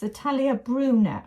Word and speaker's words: Atelier Brunette: If I were you, I would put, you know, the navy fabric, the Atelier Brunette, that lovely fabric. It's Atelier Brunette, I've been told. So I must try and get the right pronunciation.